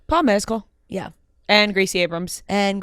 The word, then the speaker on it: Mescal: mcal we're trying to people say Mezcal like the alcohol and he says that is not right it's like more like